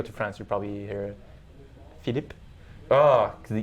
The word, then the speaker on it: Philippe: wouldn't that be like Philippe? Philippe. Okay, Philippe. Yeah, I'm saying it in Quebec way. If you go to France, you probably hear Philippe.